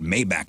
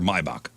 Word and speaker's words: Maybach: in a super sweet mayback sedan is it a mayback or Maybach I think it's Maybach whatever but honestly expensive